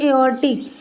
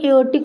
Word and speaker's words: aortic: और एक वॉल्व यहाँ पर प्रेजेंट होंगे, जिसको बोलेंगे एओर्टिक, AORTIC, ऑर्टिक वॉल्व। इसमें आर क्या होते हैं, साइलेंट होते हैं, इसलिए इसको क्या बोलेंगे, एओर्टिक वॉल्व बोलेंगे, एओर्टिक कपाट।